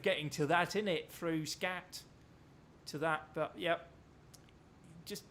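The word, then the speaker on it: skat: The really funny thing is, if you say darling in Danish, it's S-K-A-T, which is pronounced scat.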